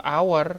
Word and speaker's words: hour: ur R kan nah tapi kita bilangnya bukan e hour tapi an hour Oh i jadi University